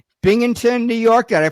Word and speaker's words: Binghamton: Binghamton, New York. Did I pronounce that right? Binghamton, yes.